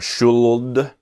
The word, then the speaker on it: should: is in the pronunciation the L is silent the pronunci is not should or should but should okay should